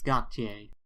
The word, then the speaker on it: Gotye: yes, Gotye. Okay, so Gotye and Kimbra.